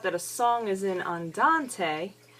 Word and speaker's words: andante: a n t e now we have to pronounce every letter because this is Italian so we say Andante Andante is slow it's